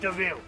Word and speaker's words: De Vil: it's pretty relatively oh it's spelt like devil but it's pronounced devil